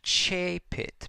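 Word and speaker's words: coepit: The COE in the last line actually is pronounced chepit because the OE diphthong is E in the ecclesiastical pronunciation. The C softens in front of the E sound, chepit.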